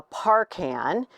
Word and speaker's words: Parcan: this field they're very they call it one or the other is a par or a park hand and um it's more